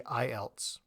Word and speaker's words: IELTS: English Language Testing system when people say this in spoken language they'll say IELTS so they'll say the letter i' and then else because we can pronounce the else part as a like an english word almost so it's a combination of